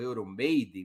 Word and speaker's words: Euromaidan: Um movimento que logo seria denominado de Euromaidan, ou Euromaidan, muitos dizem na pronúncia inglesa, embora seja uma palavra que em ucraniano queira dizer a Praça da Europa, Euromaidan.